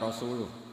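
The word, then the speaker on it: وَرَسُولُهُ: Allah itu terbebas, gak urusan dengan orang musyrik, wa rasulih juga gak ngurus Rasulnya. Kalau sama Rasul saja tidak ngurus, apalagi sama kita. Sama Sayyidina Ali dibenarkan, yang benar bacanya itu wa rasuluh.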